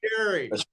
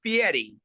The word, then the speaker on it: Fieri: flavor Town Chef Guy Gary how did I do pretty good except except you got the name wrong it's Fieri we'll let you go